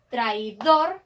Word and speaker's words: traidor: traidor tenemos ocho pero traidor es una palabra aguda se acentúa en la última sílaba aunque tampoco lleva tilde entonces deberíamos sumarle una